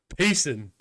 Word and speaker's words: Payson: Pronounced Jason with a P tricked me into sending super. What? Payson.